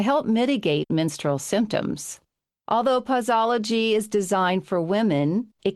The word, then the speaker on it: Pauseology: Well, before we get into pausology, and I don't know why I have a hard time with saying that, does anybody else pausy pausy?